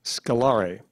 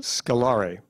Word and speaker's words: scalare: Are there any alternate pronunciations? Scalare. Could you please repeat the alternate pronunciation? Scalare.